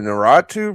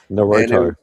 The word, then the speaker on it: Naruto: I'm probably saying his name wrong. Naruto. It was Naruto.